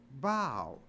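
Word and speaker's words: bough: u g h but it's not pronounced buff it's pronounced bow so even O A.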